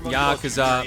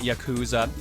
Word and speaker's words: Yakuza: leader of the Yakuza Dev team the ryoko team is the creator